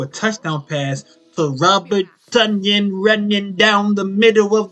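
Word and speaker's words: Tonyan: touchdown pass to robert tanyan running down the middle of the field stumbling bumbling rhymes with bunion because it's fun when you score also rhymes with onion because the [ __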